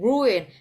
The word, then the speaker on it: ruin: A short word but two syllables, everybody. Ru and in. Ruin.